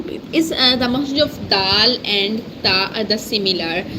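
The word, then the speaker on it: د: The next one is dal. This is the in this case we touch our tongue tip here behind the front upper center two teeth. Is the makhraj of dal and ta are the similar, so is dal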